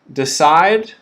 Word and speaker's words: decide: we have the verb decide the noun decision okay these words the beginning sound is similar in both of these words the second syllable is stressed so decide side decide in decision that second syllable